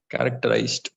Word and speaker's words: characterized: civilization civilization yeah characterized characterized yes very good characterized characterized zo so s becomes zero in this case so characterized okay territorial territorial yes